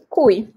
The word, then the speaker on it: cui: Cui. Cui is the other big one. Cui, not with the Q, but with the C. It's pronounced cui.